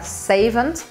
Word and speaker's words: savant: A palavra savon, que em inglês eles pronunciam o T e fica savant.